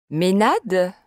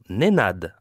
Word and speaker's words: Nenad: Je m'appelle Nenad. Comment? Nenad. Ménad? Non, Nenad avec un N. N comme Noémie? Oui. N E N A D.